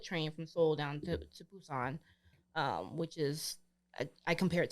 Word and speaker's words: Busan: Well, it's Busan, but they pronounce their B's like P's, so it's Busan.